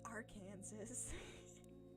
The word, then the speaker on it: Arkansas: I do know that in the state of Arkansas, it is technically illegal to pronounce it Arkansas in the streets. Now, they're not going to arrest you for something that stupid, but it's Arkansas.